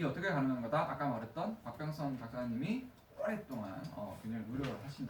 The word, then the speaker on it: 박병선: 박병선 박사님은 발음 조금 조심해야 될 것 같아요. 박병선 박사님이에요. 박병신 박사님이 아니고 너무 신났나?